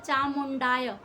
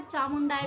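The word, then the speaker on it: चामुंडायै: देखिए चामुंडाय होता है, यानी कि चामुंडाय में कुछ लोग बोल देते हैं चामुंडाय, चामुंडाय नहीं होता। चामुंडाय में 2 मात्राएं लगती हैं तो चामुंडाय हो जाता है।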